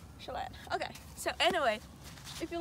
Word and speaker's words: Chelan: And of course I pronounced it wrong, but you know, it's fine. No, you said it right. Lake Chelan. Chelan.